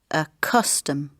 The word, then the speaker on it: custom: The stress is on the first syllable, so the second sound is weak. A custom.